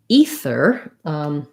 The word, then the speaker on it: ether: going to be voiced an exception would be the word ether which isn't a common word right i should actually make that one green so it matches so ether is a gas right also used to refer to kind of in the ether in the unknown realm um so ether sounds a little strange right because normally we would have a voice th in a word like either or breather and then in the